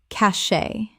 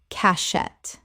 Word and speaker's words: cachet: cache Common mispronunciation. cachet Correct pronunciation. cache Two syllables with the T completely silent. From French.